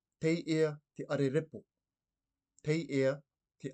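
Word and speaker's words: Teiea: In the Cook Islands Māori language, we would say, te ia te arerepo.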